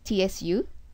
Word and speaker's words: つ: you can type either Tu or TSU but pronunciation is uh closer when you say TSU s okay because it's not to this is